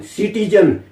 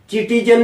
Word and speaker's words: citizen: इसी तरह से एक शब्द है सिटीजन, CITIZEN, सिटीजन, चिटीजन नहीं कहेंगे, यहां पर सी का प्रोनाउंसिएशन 100 के रूप में होता है।